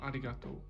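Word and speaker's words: ありがとう: and I regard Oh has a you on the end so despite the fact it's pronounced arigato it's hard to question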